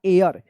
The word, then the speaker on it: heir: HAIR, हेयर मतलब होता है बाल, लेकिन यहाँ पे आप HEIR, इसको हेयर पढ़कर गलत मत कीजिएगा, ठीक है। इसका सही उच्चारण होगा एयर, यानी यहाँ पे एच साइलेंट रहेगा।